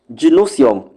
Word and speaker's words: gynoecium: Gynosium, which is spelled Gynoecium.